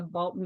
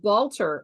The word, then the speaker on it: Balter: you can pre-order the Balton of Ashton Harper. And I am really, excuse me, let me change that pronunciation. Let me do it correctly. The Balter of Ashton Harper.